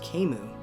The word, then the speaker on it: Camus: Weirdly enough, Camus is pronounced Camus.